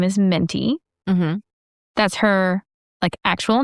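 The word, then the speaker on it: Mintie: So my mother-in-law's name is Minty. Mm-hmm. That's her actual name. Like minty as in I put a mint in my mouth and it's peppermint.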